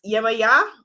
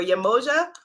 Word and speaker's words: Yemaya: So she is Yemaya or Yemoja or Jemaja. A lot of different pronunciations around the world, is a Yoruba goddess.